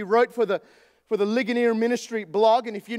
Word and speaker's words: Ligonier: art C Sproule he founded a ministry called Ligonier it's spelt Li gon ier Li gon ier and